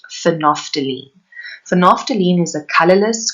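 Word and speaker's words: phenolphthalein: blue color our third indicator is pronounced phonophthylene so naphthalene is a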